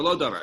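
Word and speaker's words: מלא דבר: And excuse me, Malo Davar. It says Malo Davar. And once again, it's written with a vav, but it's pronounced with an aleph.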